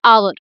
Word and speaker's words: hour: h is does not comes in the uh pronunciation. So for example hour so we do not call it how no we call it hour.